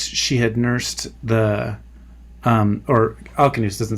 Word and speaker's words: Alcinous: really, for me anyway, either of the pronunciations are fine. But King Alcinous, I'll go with the hard K here, says, once she had nursed the, or Alcinous doesn't say this, but